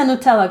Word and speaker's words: Nutella: after a hazelnut spread it rhymes with uh cinderella so yeah this is a nutella glass and in europe